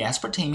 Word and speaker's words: aspartame: 자, aspartame 우리 보통 아스파탐이라고 요즘 부르는데요. 이 aspartame의 영어 발음은 이 aspartame has made it possible 가능하게 만들어졌대요.